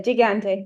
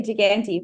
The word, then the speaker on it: Gigante: Yeah, Gigante. That sounds good. I actually say Gigante, but that's a bit of the, Aussie brogan way.